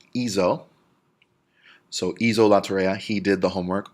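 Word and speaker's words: hizo: avoid a hard see if it was HIC oh it would be pronounced eco and we wanted to pronounced easel so ease hola terraria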